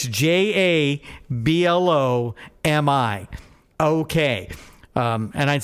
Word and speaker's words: Jablomi: Hey, would you blow me?